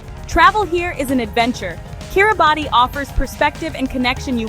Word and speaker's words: Kiribati: Kiribati, pronounced Kiribati, is remote, resilient, and deeply connected to the ocean.